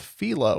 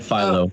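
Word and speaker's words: phyllo: today I learned that that word is properly pronounced felo I've called it Pho my entire life but it is correct uh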